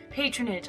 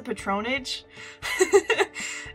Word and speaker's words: patronage: this location for future patronage I hate that word I hate it I always used to pronounce a patron age and then realize later on it was patronage and I felt really dumb I could probably make